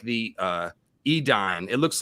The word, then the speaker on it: Edain: Dawn, just like the Edain. It looks like Dane. It's Edai or Ain. It's pronounced Edain, but it looks like Dane.